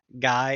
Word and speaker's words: Gui: If your book doesn't offer this, what I would suggest is look for Guy, it's spelled weird, gui.